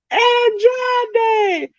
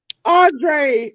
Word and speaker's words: Andrade: she said it. Andrade El Idolo. And he was like, Andre El Idolo.